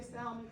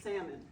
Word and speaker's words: salmon: and I don't say salmon I think the L is silent so I say caletoni salmon that is the drug